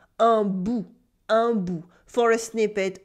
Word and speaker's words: un bout: une bribe became un bout with a silent T. Un bout, un bout.